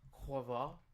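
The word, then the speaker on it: Quavo: It's actually pronounced Quava.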